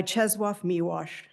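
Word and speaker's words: Czesław Miłosz: I now want to borrow a pro a poem by Chzwaf Miwash and thank you to Hubert for correcting my pronunciation.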